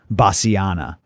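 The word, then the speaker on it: bassiana: uh the place in germany that's not how it's spelled it's b e a u v e r i a buvaria basiana b-a-s-s-i-a-n-a and you'll find all sorts of research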